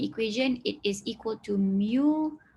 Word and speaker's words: mu: So dia Google, saya tak Google, dia Google untuk saya, ejaan dia macam ni, it's just mu. So that is your mu. Mu sebutan dia macam mu.